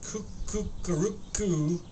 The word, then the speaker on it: Kook: It starts by going, Kook, which is pronounced Kukaruku, was a quiet cat and a fine friend.